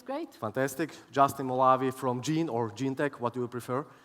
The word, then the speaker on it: Genentech: Justin Molavi from Genentech, what do you prefer? Genentech. Oh, I mean, that's how I pronounce it, yes.